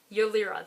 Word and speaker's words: Ylira: No direct proof in the book that I can think of, but I'm going to assume that Ylira, that's how her name is pronounced, is both Sayra and